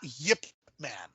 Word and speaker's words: Ip Man: they so even so it is spelled ipman but they are pronounced Yip Man Yip Man okay and uh try